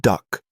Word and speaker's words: DUKW: D U KW pronounced duck by troops who would soon drive them into combat.